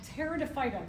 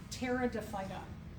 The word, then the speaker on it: Pteridophyta: They're called pteridophyta. The P is silent. Pteridophyta.